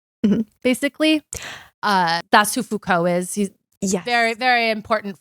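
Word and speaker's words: Foucault: as a technology is influenced by fuk Call's wait how do you say his name I only Fuko thank you I have never said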